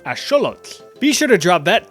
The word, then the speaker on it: axolotl: You've probably been saying this as axolotl or ajolote from my Spanish speakers, but it actually comes from the Nahuatl language, so it would be correctly pronounced as axolotl.